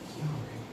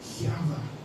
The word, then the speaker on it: Yahweh: Essentially, how do you pronounce that? It's like a breath.